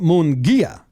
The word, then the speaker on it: Munguia: Okay, Baseball Reference says you pronounce it Ismael El Munguia. Ismael El Munguia. Kind of puts the accent right in your mouth for you. Ismael Munguia.